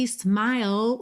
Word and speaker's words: smile: E lembra que smile você termina no L, tá? Esse e final é completamente mudo.